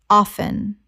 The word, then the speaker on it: often: across across Word 298 often Common mispronunciation often Correct pronunciation often Two syllables. The T is silent in natural speech, though often is increasingly accepted in informal contexts.